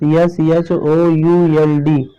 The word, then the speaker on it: should: नियम 9 में देखिए क्या है, MFKD से पहले आपका जो ये L है ना, L, ये साइलेंट रहता है, साइलेंट रहता है, इसका मतलब चुप रहता है। अब देखेंगे ये कौन कौन से वर्ड हैं। तो जैसे आपने एक बहुत वर्ड सुना होगा, बहुत फेमस, SHOULD, शुड।